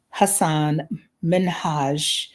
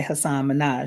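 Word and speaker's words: Hasan Minhaj: And I remember, oh my gosh, I'm going to mispronounce his name, but Hassan Minhaj. I'm trying my best. Um, of course, I prefer to say Hassan Minaj.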